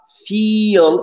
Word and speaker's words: feel: Et attention, Fadela, à feel, c'est un long i.